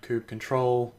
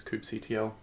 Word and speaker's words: kubectl: Some people call it kubectl, kubectl, I've also heard, but for the rest of this course we'll refer to it as kubectl.